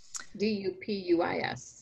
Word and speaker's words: Dupuis: D-U-P-U-I-S.